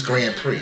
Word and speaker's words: Grand Prix: you try to it's Grand Prix no it ain't I'm looking at it BRX the ex is silent just to let you